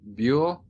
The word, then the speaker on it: Buell: Y a los 16 años, el 6 de enero de 1827, se casó con Norman Buell, creo que se pronuncia. Buell, sí.